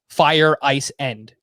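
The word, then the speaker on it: Feyereisen: I noticed that too, because when I phonetically spelled out his name, I listened to how they said it on the broadcast, and it literally sounded like Fire Ice End.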